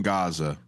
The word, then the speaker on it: Gaza: call it, the war in Gaza, the hard G.